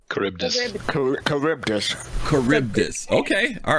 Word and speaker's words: Charybdis: Charbidis. Thank you for the follow. We appreciate it. Curbdis. Final Fantasy 11. Curbdis. Oh, thank you for clarifying that. Curbdis, is this how it's pronounced? Charybdis.